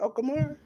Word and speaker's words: Okamura: defeated, this is the J News word, Okamura. That's how you say it? Okamura?